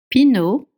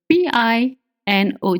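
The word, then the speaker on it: Pinot: Pino. It's spelled P I N O T. Pino. Pino. You don't pronounce the T at the end.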